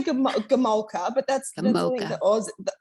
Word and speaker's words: Gomulka: I think Gomulka. Well, I say Gomulka, but that's I think the Aussie slang on it. The Aussie, our accents, I think, will say it differently. But I say Gomulka.